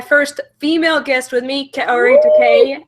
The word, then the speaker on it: Kaori: And today I have my first female guest with me, Kor. I probably said your name wrong. I'm sorry. No, you said it right actually.